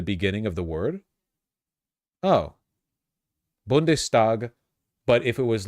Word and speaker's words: Bundestag: guy was basically torpedoing all economic initiatives it's pronounced bundestag is it really huh bndes bundes where is it where is it spelled